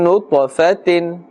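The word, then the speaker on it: نُطْفَةٍ: Therefore ta must be pronounced with a full mouth, and the qalqala must apply, which means a slight bouncing or echoing sound must be made.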